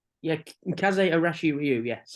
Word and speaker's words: Kaze Arashi Ryu: Is that correct pronunciation? Yeah, Kaze Arashi Ryu, All yes.